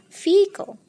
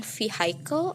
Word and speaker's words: vehicle: Ternyata pengucapan yang benar adalah vehicle. Nah, jadi bukan vehicle atau vehicle, tapi vehicle.